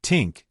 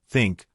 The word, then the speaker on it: think: They say tink instead of think or this instead of this. You must train your mouth to make the correct sound. Put your tongue between your teeth. Push air out for think.